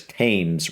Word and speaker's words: Thames: I think the H is silent, so I think it's Thames.